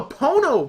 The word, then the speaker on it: Pono: about Neil Young's uh Pono music player which sounds like porno that ain't right it's it's called a Pono player I mean someone's gonna